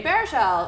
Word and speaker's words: Baruchel: episode of teeny tiny talks to with Jay Baruchel am I saying it right yeah completely yes thank you Jay Baruchel star of man seeking woman on FXX so